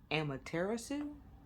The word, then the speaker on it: Amaterasu: So, kind of looked up how to pronounce it. It's Amaterasu. Maybe a little bit. If it's not, don't come for me.